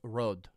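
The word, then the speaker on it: rød: See here, the Danish word for red is rod, pronounced some uh somewhat like r with a soft almost silent d.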